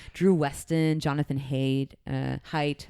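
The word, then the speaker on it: Haidt: Weston Jonathan ha uh height I always pronounce it hey it's not it's definitely height h a i I need a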